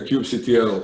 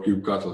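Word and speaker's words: kubectl: we are using a cube GTL or cube Castle how you want to pronounce it command so our peeps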